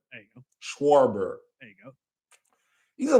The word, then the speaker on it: Schwarber: I never can pronounce his name. Let me try this. Oh, shut up. Let me try this. Kyle Schwarber. There you go. Schwarber.